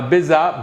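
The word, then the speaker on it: bezar: make a spice mix that's called bizarre now bizarre b-e-z-a-r is one way to spell it is a very traditional spice mix that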